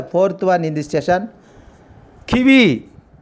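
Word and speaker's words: qui vive: Kiwi. Q-U-I-V-I-V-E. Kiwi. E is a silent letter here.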